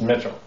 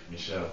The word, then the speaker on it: Mitchell: instead of mitch it's mitchell you know how to pronounce mitchell and french michelle don't with that okay